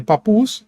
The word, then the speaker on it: Papus: umas horas atrás mas a pronúncia do nome dele é papus então ele demonstra Exatamente